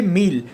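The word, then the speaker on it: mille: So you won't say a meal like 1000. You just say meal.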